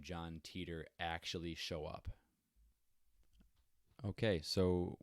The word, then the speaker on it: Titor: Wait for John Titor to come back and be like, you know what? This shit sucks. You're not even close. And it's not pronounced Teeter, it's pronounced Titor. Or something like that.